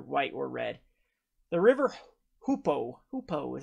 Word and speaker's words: Hoopoe: The River Hoopoe is how you pronounce it.